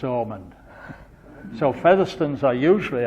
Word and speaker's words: Hammond: the same family origin because of the pronunciation of Hammond is almond so feather stones are